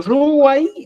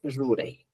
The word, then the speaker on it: ruray: Por ejemplo, ruay decimos en Cusco y en Apurímac dicen ruray, ¿ya? ¿Cuál es la expresión correcta para ambos? Es ruray.